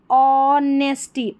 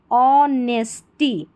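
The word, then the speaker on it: honesty: पढ़ लें बाय हिज ऑनेस्टी ऑनेस्टी में ऑनेस्टी नहीं पढ़ना है। जैसे मैंने बताया एट साइलेंट है। ऑनेस्टी she told everyone everyone in the town about about Ravi's good deed.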